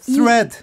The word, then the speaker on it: thread: thread. 정확히. thread. thread네요. 네. TH 발음이네요. thread. 이 한국 사람의 돼지꼬리 thread. 한국 사람의 이제 네. 발음 버튼 중에 하나는 그렇죠. TH 발음이 들어갑니다.